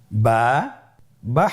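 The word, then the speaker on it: ب: বা হরফটি কিভাবে উচ্চারণ করবেন? বা হরফে টান হবে। এক আলিফ টান।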